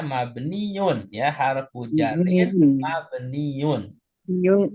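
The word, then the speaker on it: مبنيّ: Perhatikan cara bacanya mabniun ya, harfu jarin mabniun. Yung ala Nah, sukun. kalau tadi Bu Aida sempat baca mubni. Ya, ini saya luruskan Bu. Cara bacanya mabniun.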